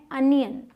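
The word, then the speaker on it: onion: होता है प्याज इसे बहुत सारे लोग अनियन बोलते हैं इसको ओ प्रोनाउंस करते हैं लेकिन सही प्रनंसीएशन है अनियन अनियन ठीक है इस साल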